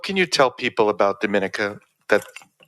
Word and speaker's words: Dominica: my country's name is Dominica we're not Dominican Republic so it's pronounced differently um we are about